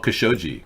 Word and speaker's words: Khashoggi: Got to watch how you say that. Jamal Khashoggi. Yeah. I said it right.